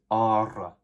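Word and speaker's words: ἆρα: And in actual Greek, there would be a circumflex above this first alpha, so that's why it's a long alpha, and you pronounce the word as ara.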